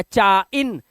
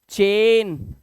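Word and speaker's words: chain: मत पढ़ना पाइन या चाइन या जाइल ऐसा नहीं पढ़ना है ए आई के बाद एन है पेन ए आई आया चेन jail ट्रेन रेन mail ए आई को क्या पढ़ रहे हैं ए ध्यान से देखना ऐसे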